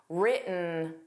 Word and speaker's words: written: The T in written wasn't pronounced. It sounded like written, written.